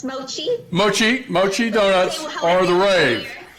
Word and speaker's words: mochi: And Christine, I hear that your Mochi donuts, did I pronounce that right? It's Mochi.